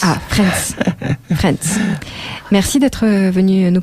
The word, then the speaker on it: Frans: Franz, hein, je le prononce correctement. Oui, Franz avec un S. Ah, Franz.